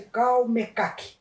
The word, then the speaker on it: Calmecac: Escreve-se Calmecac, né? Pronuncia-se Calmeca.